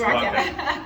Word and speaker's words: Raaka: Is Raaka? I pronounce it. Yeah, you pronounce it right. Okay, It's Raaka.